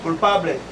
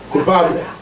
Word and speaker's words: culpable: Culpable. Culpable. Sounds like Pablo.